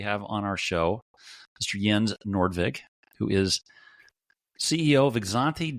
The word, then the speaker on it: Jens Nordvig: CEO of Market reader yen how did I do yeah you did pretty well like uh pretty pretty authentic pronunciation of my name there I get all kinds